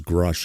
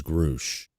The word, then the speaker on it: Grusch: It could also potentially explain why Lou pronounces Grush as Grouch.